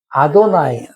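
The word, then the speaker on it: אֲדֹנָי: 아도나이 아도나이 여러분 이걸 때 이렇게 안 읽고 아도 나이라고 읽다.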